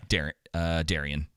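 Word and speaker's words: Daeron: Wasn't it Darren? Yeah. Darren, I want to say maybe. Let me check. Yeah, Darian.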